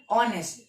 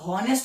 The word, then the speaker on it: honest: Example ऑनेस्ट। ऑनेस्ट spelling क्या है, HONEST। ठीक है, अब हॉनेस्ट तो नहीं पढ़ते, एस साइलेंट होता है, ओ से बोलते हो, वही यहाँ पर है।